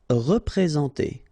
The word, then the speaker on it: représenter: Représenter. All right, remember that you get this N together, and then, well, it's a nasal, so it goes in your nose, and it's en. So, représenter. Représenter.